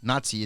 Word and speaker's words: Nazi: not by Nazi soldiers Nazi is the pronunciation Nazi I just know t in it okay Jews were beaten